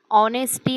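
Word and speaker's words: honesty: देणे प्रमोटिंग प्रोत्साहन देते ऑनेस्टी मध्ये एच सायलेंट आहे प्रामाणिकपणा ऑनेस्टी इंटग्रिटी निष्ठा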